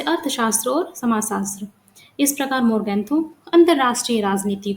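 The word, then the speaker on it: Morgenthau: लिखा गया है, लेकिन यहाँ पर ये आप इसको मोर्गेंथो ही प्रोनाउंस करना।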